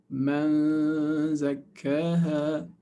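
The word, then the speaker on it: مَنْ زَكَّاهَا: So man, you say man, and then your mouth is in the position of zay. Man zakkaha with two ghunna harakat.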